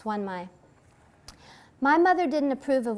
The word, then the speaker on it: Xuân Mai: Okay, and she's called Mai through most of the book, but her full name is Xuân Mai, and you pronounce that X-U as Swa, so it's Xuân Mai.